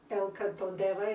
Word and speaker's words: Elka Todeva: Elka Todeva is the way they pronounce it, though it's very often it's anglicized a little bit.